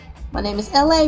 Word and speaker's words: Elay: My name is LA, pronounced like LA, like a city.